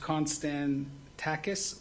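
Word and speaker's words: Konstantakis: We'll pronounce it first. Constan Takis Law.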